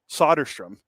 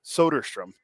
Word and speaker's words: Soderstrom: Russ well just like people used to call him Tyler solderstrom and it's soderstrom yeah because then you